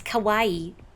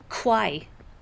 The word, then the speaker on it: kawaii: Kawaii because it's trendy. I knew someone in school who insisted the word kawaii is a cute was kai like like bridge over the river quai.